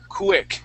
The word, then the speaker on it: quick: So, we're going to start off with a C- sound. Pick quick.